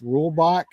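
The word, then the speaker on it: Reulbach: of Ed I believe that's rule boach that's how you pronounce his name and then there's a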